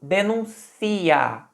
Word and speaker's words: denuncia: acento estava no u agora eu pronunciei denuncia denuncia Olha onde tá a ênfase no i denuncia tá pensem como